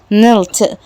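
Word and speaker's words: knelt: هنا بقى نلت او نل يعني الكوع. ما بنقولش كي هنا، مش بنقول الكي خالص عشان في قاعده كي ان مش بتتنطق الكي صغيرا زي نايف سكينه.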